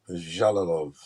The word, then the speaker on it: Jalolov: Eastern European um dialect it's j so it's pronounced jalilov jalolov Yep this guy's gonna be a monster five